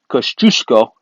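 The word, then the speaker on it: Kościuszko: that douche I'm polish I should be able pronounce this tattoo sh Kosciuszko I got that right infantry division 200 plus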